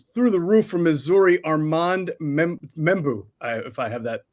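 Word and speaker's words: Armand Membou: Armand Membu, if I have that pronounced correctly. Arman Mebo.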